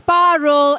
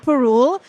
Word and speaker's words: Parul: my name is parul it's pronounced as parul and not Peru and I'm from California